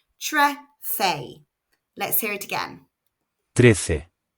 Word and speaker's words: trece: 13 in Spanish is, Trece. which is spelled T-R-E-C-E. The first syllable is quite short, and again, remember that C followed by E or I makes a th sound in European Spanish.